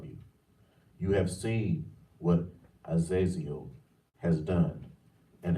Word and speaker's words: Azazel: heavens stop right there now the way to pronounce that is Azazel where where we heard that before so we